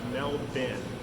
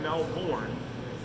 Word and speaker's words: Melbourne: Okay, don't pronounce it Melbourne, and don't pronounce Brisbane as Brisbane. If you want to be on the in, it's Brisbane and it's Melbourne. Okay, not Melbourne. That's in Florida.